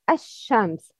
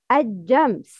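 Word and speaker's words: الشمس: The right is ash-shams. The wrong is ajams. No, aja. How aja? Don't pronounce sheen as jim.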